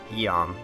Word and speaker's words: Iom: Mac is mysteriously found by some cliffs just as the good Prince Bofner is leading his forces to Iom, or as it's canonically pronounced, Eom.